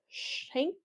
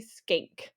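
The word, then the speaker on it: Schenck: funny um it looks like you want to pronounce it as shank but it's actually skank I know great name um skank versus the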